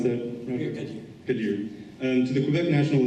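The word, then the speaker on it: Khadir: first elected Amir Kadir, I'm sorry, can you pronounce that? Kadir.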